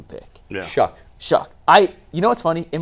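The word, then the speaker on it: Shough: He had the Browns taking Shook out of Louisville with the 33rd pick and Carter with the number 2 pick. Yeah. Shuck.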